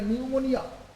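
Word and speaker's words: pneumonia: এটার উচ্চারণ কি হবে আমরা জানি এটা নিউমোনিয়া নিউমোনিয়া বা তার আগে একটা নাক আছে নিউমোনিয়া নিউমোনিয়া এরকম নিউমোনিয়া বাট এই পিটা সাইলেন্ট থাকে এখানকার টি সাইলেন্ট থাকে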